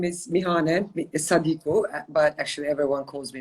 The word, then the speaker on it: Mihane: to start off with uh my name is mihanen but actually everyone calls me mickey because it's easier to pronounce uh originally i'm from kosovo i'm albanian